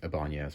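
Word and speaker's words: Ibáñez: salvador ibanez you know we're probably not actually pronouncing it right we we pronounce it ibanez which is a very american way to pronounce it but um you know if it was spanish um it's probably like a banyas or something so salvador ibanez um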